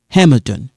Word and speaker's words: Hamilton: René et Kofi sont, here we kind of link it, allés à Hamilton. Hamilton is a noun, is English noun. Hamilton. This one is kind of silent.